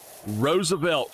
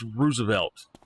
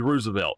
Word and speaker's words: Roosevelt: like that it's like people call it Roosevelt it's Roosevelt it is actually Roosevelt it's not Roosevelt that was a man's name that was a last name if you look at